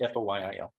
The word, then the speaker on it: Foyle: Am I pronouncing it correctly, like aluminum foil? Yes. But it's FOYIL.